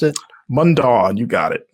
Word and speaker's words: Mundaun: Is that how you pronounced it? Mundaun, you got it.